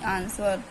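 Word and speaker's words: answer: तो साइलेंट होता है जैसे की आंसर आंसर में क्या है एस के बाद डब्लू आ गया तो डब्लू हमारा साइलेंट हो गया बट हमें लिखना है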